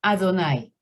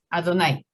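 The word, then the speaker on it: Adonai: nombre impronunciable dijeron que es adonay en la sinagoga adonay no a dónde y así lo llaman adonay dentro de la sinagoga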